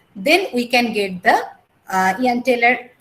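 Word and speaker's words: Jahn-Teller: But most of the cases when we observe the symmetry will break up in the EG level, then we can get the Ian-Taylor pronounced Ian-Taylor effect.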